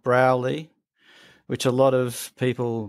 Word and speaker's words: Broulee: Wales Australia it's in a little town called browley which a lot of people mispronounced they call it bruly because it's spelled b r o u l we e